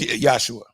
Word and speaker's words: Yahshua: wasn't even Jesus yeah it was it was yahshua yeah yeah sure yeah that was no that was just that's how you pronounce his name so I'm saying before